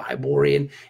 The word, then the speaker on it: Hyborian: the Barbarian world it is however however you pronounce it uh hi poor poor bia hi hi Borya hi Borya there you go Hyborian is Hyborian world there's gonna be lots and